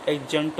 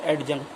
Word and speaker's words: adjunct: ठीक, तो ए और जे के बीच में आने वाले डी का प्रोनाउंसिएशन नहीं किया जाता। तो यहाँ ए और जे के बीच में क्या है? डी है, तो इसलिए यहाँ पे इसको क्या बोलेंगे? एडजंक्ट बोलेंगे, ना कि एडजंक्ट बोलेंगे।